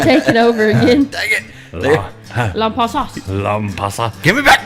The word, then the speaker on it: Lampasas: So I don't know why people don't pronounce Lampasas wrong. Or right. Everybody says Lampasas. It's Lampasas. yeah, don't pass us when you're Lampasas.